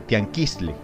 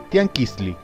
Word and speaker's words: Tianquiztli: El actual tianguis es una deformación al castellano de la palabra original de la que derivó este, palabra de origen que pertenece al idioma náhuatl, misma que pronunciada correctamente es la de Tianquistli.